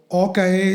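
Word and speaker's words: Aux Cayes: So Orcais is spelled AUXCAYES, but while pronouncing it, it's Orcais.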